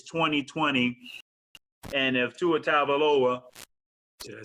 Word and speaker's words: Tagovailoa: It's 2020, and if Tua Tagovailoa, did I say it right? Tagovailoa.